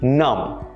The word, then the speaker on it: numb: Let's look at a few more examples where the B sound is silent. Doubt, debt, climb, thumb, numb. Notice how the B sound was never a part of the pronunciations for any of these words. You never pronounce these words with the B in it.